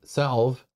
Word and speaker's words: salve: oh Starman says salve pronounced like valve but thou novel a